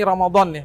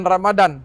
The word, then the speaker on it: Ramadan: Kita harus memahami Ramadan ya, bukan Ramadan. Ramadan itu dalam terjemahan lain sakit mata. Iya. Jadi jangan salah membacanya Ramadan. Ramadan. E Ramadan. Jadi dalam ucapan bisa salah makna.